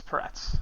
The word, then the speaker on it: Peretz: It's Peretz. Okay, there we go. Peretz. Just Rhymes with family Tourette's.